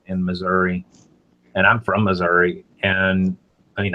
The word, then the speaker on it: Missouri: Missouri and I mean I called it Missouri when I lived Liv there I still I don't hear anybody in the South call it Missour but my grandmother and my aunt used to call Missoura now that I sto and think about it and I don't know what that was you know I never